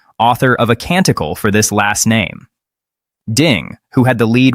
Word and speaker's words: Leibowitz: of A Canticle for Leibowitz. Ding, who had the lead with $12,200 at the time, answered, "Who is Leibovitz?" Jennings said it was close, but the answer was Leibowitz.